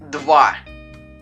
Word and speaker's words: два: Se pronuncia два.